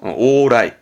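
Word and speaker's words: 往来: 발음 어렵지 않죠? 오라이.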